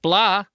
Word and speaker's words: blah: they feel me, not blah. I don't like that one. Both words, by the way, have an h in them. That is silent.